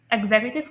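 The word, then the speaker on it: executive: जो third saleable है ना यहां पर यू थर्ड सेलेबल जो यू है उसकी साउंड प्रोड्यूस होती है अ साउंड।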